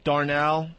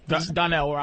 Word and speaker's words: Donnell: I went to see Bill Burr, Darnell. Is it Darnell? Donnell.